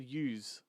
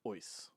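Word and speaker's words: Uys: The first one came along, and director Jamie Ois, which is a hard name to pronounce because it's pronounced it's spelt U-Y-S, and I've always said use, right?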